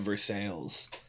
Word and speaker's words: Versailles: So you know the French city of Versailles. Yes. Yeah. We have one in Missouri as well, but they insist on pronouncing it Versailles.